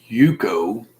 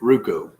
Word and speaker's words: Ruko: No, it's a Yuko. Ruko. I don't know how to pronounce that. Ruko. That's a Yuko, babe. He says underneath. Oh, he corrected it. Ruko. It's a Ruko.